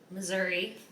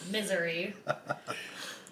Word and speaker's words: Missouri: old I live in Missouri not missoury talk about that later